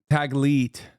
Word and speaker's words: Taglit: It's Tagli, is it? I don't know how to say it. Taglit? Taglit, sorry. I mispronounced it.